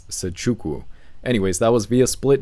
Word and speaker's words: Nzechukwu: I think the N is silent. I think it's Nzechukwu.